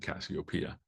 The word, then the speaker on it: Cassiopeia: Next one is another illustration, full art, with Cassiopeia. I know people pronounce it different names, but there's like literally songs and people in history called Cassiopeia. So make sure you pronounce it Cassiopeia.